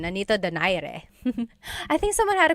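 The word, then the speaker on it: Nonito Donaire: So, our first poll here is going to be Mani Pacquiao versus Nonito Daire or is in in the Tagalog uh pronunciation. Nonito Dare.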